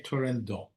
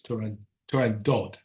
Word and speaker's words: Turandot: Apparently, if you're Italian, you say Turandot. Otherwise, it's Turandot.